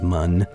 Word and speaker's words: Mun: I think I've been mispronouncing moon this entire time. It's the developers, their original intention was for it to be pronounced mun, but I don't know.